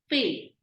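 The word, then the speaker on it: fée: E with an accent is an A sound. F with A pronounced as fay.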